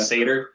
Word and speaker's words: Satyr: Yeah, Satyr, pronounced Satyr, not Satyr.